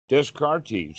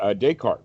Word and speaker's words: Descartes: Descartes, or Descartes, rather, he made that mistake.